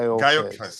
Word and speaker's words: Gyökeres: explaining how his name was said, and it's Gyökeres, something like Gyökeres. Gyökeres. Gyökeres. Gyökeres. I've heard people pronounce it Gyökeres.